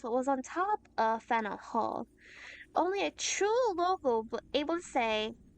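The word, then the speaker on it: Faneuil Hall: Don't let the French spelling confuse you. The name of this building is pronounced Fennel Hall.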